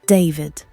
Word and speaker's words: D4VD: David Anthony Burke, known professionally as D4VD, pronounced David, was born in Queens, New York in March 2005.